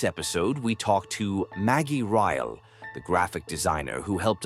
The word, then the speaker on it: Ryel: I always just called you Maggie Reel, I guess, in my head. Yeah, it's pronounced a lot of different ways, but it's Riy.